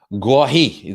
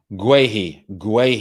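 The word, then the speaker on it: Guaita: Guahi, that's how you pronounce it. Guahi.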